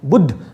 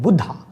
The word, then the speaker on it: Buddha: because we have this we put extra a in the name like buddh became buddha yog became yoga so that's we can say